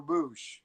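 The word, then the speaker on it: Boushh: I always pronounce this wrong, probably, but is it Bausch or Boosh? Boosh.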